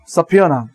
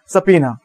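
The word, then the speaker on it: subpoena: তাকে আমরা কি বলবো, তাকে আমরা বলি হচ্ছে সাফিয়ানা, উচ্চারণ খুব সুন্দর, সাফিয়ানা, ওকে, সাফিয়ানা, অনেকে বলে সাফিনা, ওকে, সাফিনা, ওকে।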